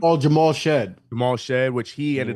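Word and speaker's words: Jamal Shead: Oh, Jamal Shed.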